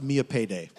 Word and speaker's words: Millipede: It's spelled millipede, but it's pronounced Mia Payday.